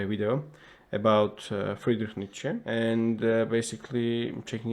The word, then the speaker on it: Nietzsche: The first bit should sound like knee, the second like cha. Nietzsche.